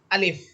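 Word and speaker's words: ألف: এখানে দেখেন আমি যে আলিফ হরফটা বলতেছি এই আলিফ হরফটা বলার সময় আমি কিন্তু কোথাও টানতেছি না। বরং টান ছাড়া পড়তেছি। আপনারাও আলিফ হরফটাকে টান ছাড়াই পড়বেন।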